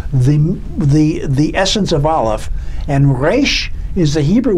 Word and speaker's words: aleph: just i'm going to the mystical aleph silent the silent letter from which everything comes